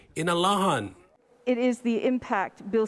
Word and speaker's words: Inalahan: Also passed was a measure by Senator Tello Taitagui to change the official name of the village of Inarahan to the Chamorro pronunciation, Inalahan.